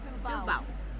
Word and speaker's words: Bilbao: How do you pronounce this town again? Bilbao.